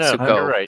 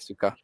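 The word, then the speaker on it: Sokka: Not Suko. Suka.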